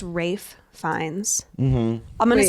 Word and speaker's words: Ralph: now let's talk about how we pronounce this first name ra fines Rafe fines Rafe that's what I've heard wait it's not Ralph I thought it was